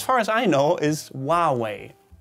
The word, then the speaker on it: Huawei: germans call this company huawei huawei that is incorrect though since you should be using the original chinese pronunciation which as far as i know is huawei huawei like in the way not not making fun